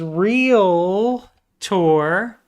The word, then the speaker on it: realtor: It is real tour. There's no a after the t or after the l.